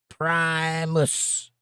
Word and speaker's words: Primus: Pronounced primus. That's a band.